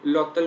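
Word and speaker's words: l'hôtel: ई एल होता है, होटल लोटल बोलते हैं क्योंकि वो एच साइलेंट है।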